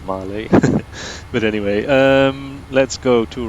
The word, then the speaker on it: Malé: I love how he pronounced Mil instead of Malé.